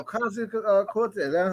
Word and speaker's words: Ocasio-Cortez: Alexandra Ocasio-Cortez.